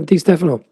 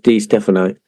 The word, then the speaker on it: Di Stéfano: Is it D Stephano or D Stefano? Let's sort that one out straight away. I'm pretty sure in Spanish they don't emphasize any particular syllables, so I think it is Dphano.